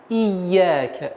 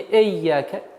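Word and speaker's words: إياك: Нужно обращать внимание на касру и. Ияка. Не эйяка. И. Ияка. Четкое, ясное произношение звука и.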